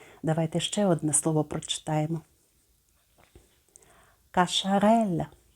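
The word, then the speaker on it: Cacharel: ще одне слово прочитаємо каша райля каша Реля Ви також знаєте цю назву Подивіться ми бачимо літеру с яка читається як СН яке читається як ш і літеру Еля як ми читаємо як ля каша Реля також Зверніть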